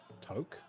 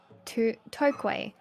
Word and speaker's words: toque: Wait, and what word are you wanting us to pronounce? Moi. It's in the T O Q U E. Toque. Oh. Toque.